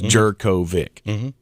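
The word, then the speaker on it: Jurkovec: Oh, no, I'm looking at the official pronunciation. You are correct. It is Jerkovic.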